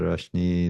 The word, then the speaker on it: Rashnee: And any final words from your end to a younger Rashnee that needs to? Am I pronouncing your name correctly?